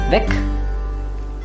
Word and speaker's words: Weg: But remember, Weg or Weg ends with a G, so the pronunciation will be K. So you should hear the K at the end of it. Weg, der Weg.